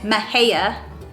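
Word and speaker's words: Mexia: pernalis this word palacious this word is mahaya and the last one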